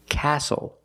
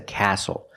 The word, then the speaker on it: castle: We also see the silent T when you have the spelling pattern S-T-L-E. Like these words, whistle, castle, and hustle.